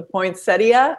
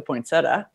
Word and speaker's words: poinsettia: The poinsettia, or as I call it, the poinsettia.